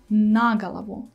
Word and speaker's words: на голову: your attention to the word galava like i pronounce kaksnik nagalavo the stress is on the proposition na actually